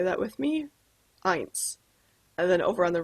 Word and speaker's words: eins: our first number is one and that is pronounced eins can you say that with me eins and then over on the right side we'll